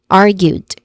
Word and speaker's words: argued: Next content word is argued. Again, argued. First syllable is R, which is the stressed syllable. It has a short A vowel sound. And then followed by gued, which has a gued, argued, which has a long U vowel sound.